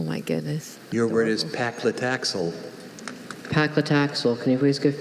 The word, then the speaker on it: paclitaxel: Your word is paclitaxel.